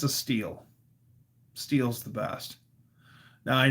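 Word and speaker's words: Stihl: I mean, it's a steel. Steel's the best. Now, I know it looks like steel because it's spelled S T I H L, but it said steel. Like man of steel.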